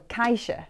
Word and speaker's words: caixa: This instrument is called a caixa.